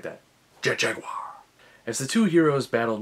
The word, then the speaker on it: Jet Jaguar: yes you have to say it like that jet jaguar as the two heroes battled megalon and geigen